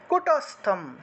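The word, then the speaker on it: কূটস্থম: তাহলে সর্বত্র গম অচিন্ত্যম চ কুটস্থম, এখানে দেখুন অনুস্বার থাকায় ম উচ্চারিত হয়েছে।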